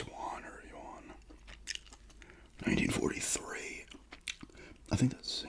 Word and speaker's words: yuan: It's yuan. I poured this. Sounds like you on.